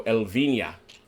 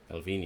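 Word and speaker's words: Elviña: So, Elvinia. Elvinia. How'd I do? Elvina. It says Elvina on this one. No, he's. I'm getting some pronunciation advice from Daniel online. Apparently, it's Elvina.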